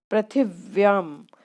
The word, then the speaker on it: पृथिव्यां: पृथिव्याम महोदय, इसमें आधा वा का भी उच्चारण होगा।